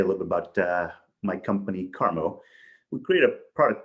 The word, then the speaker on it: CAARMO: So now we're on to today's presenter, and I apologize if I forget how to pronounce this. It's CAARMO? CAARMO.